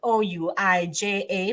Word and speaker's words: Ouija: doing because it here it is actually spelled o-u-i-j-a but pronounce Ouija yeah which is also known as